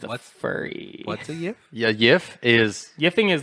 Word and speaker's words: GIF: about mother-in-law it's one gif when pronounced correctly should sound like you're saying the word give but your parents tell you they're getting divorced before you can finish the v sound before you finish the